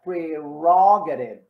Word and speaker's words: prerogative: that this word this this word is not easy to pronounce and so i i type the ro in blue to remind you i mean to guide you with the stress okay that's her prerogative